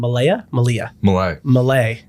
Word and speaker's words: Millea: Millea. The A is silent. I like that. Yeah. Yeah. Or the E is silent.